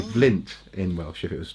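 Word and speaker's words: Fflint: It is spelt like the stone, but also actually in Welsh it's Flint. It's two F's. Yes, because in Welsh one F is the V sound. So it would be Flint in Welsh if it was just one F.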